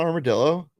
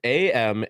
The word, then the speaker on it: Amarillo: It's not Armadillo. No, That's- armadillo. The fuck? It's AMARILLO.